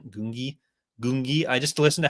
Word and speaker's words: Gungi: while before but that ultimately changed with like Gangi or G gungi gungi I just listen to how isoko pronounced it the first time he didn't want